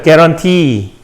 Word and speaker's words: guarantee: guarantee. 강세가 뒤에 있어요. 왜 강세가 뒤에 있다 그랬어요? 이 단어도 프랑스어에서 왔으니까 강세가 뒤에 있습니다.